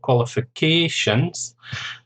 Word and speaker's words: qualifications: Career, qualifications, 5 syllables, stress on the 4th syllable, qualifications.